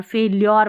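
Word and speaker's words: failure: यू आर ई ल्योर फेल्योर पढ़ना है फेलर नहीं पढ़ना है फेल्योर इज नॉट अ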